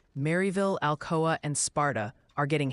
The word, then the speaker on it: Maryville: They're gently reminding you it's pronounced Maryville. Really hit that Mary in Tennessee.